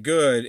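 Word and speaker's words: Goux: and nicole goo and it's g-o-u-x so i think that's pronounced goo it sounds weird to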